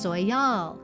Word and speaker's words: Soyal: Among the Hopi and Zuni tribes of the American Southwest, the solstice is marked by the Soyal ceremony, a sacred ritual